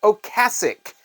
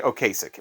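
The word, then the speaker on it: Ocasek: The Cars is named Rick ocasic Rick ocasic I can still remember MTV all the time used to say okay sick which would make all the DJs say okay his name is actually Rick ocasic how about this one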